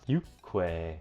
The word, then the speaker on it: 육회: is called you quit spelled you Kwai pronounced you Kwai and you're gonna go